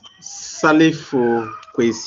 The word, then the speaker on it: Salifu: It's Salifu. Salu is s a l i fu.